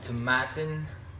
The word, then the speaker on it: Tomatin: have for you the tattin rhymes with satin like it says on the back of the box 14-year-old Portwood finish um